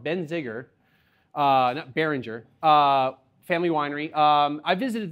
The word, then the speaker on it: Benziger: number two this is the Benziger not been benzene but I can't even pronounce wrong Benziger behringer family winery I